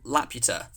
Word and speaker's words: La Puta: But it's not pronounced Laputa. It's La Puta, which in Spanish means like the whore or the bitch or Nice.